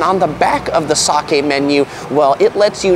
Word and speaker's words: sake: The second menu, speaking of soggy, it rhymes with it, is the sake menu.